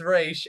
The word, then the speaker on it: Ra's: fine I actually know she specifically said that it's pronounced race not Roz and from what I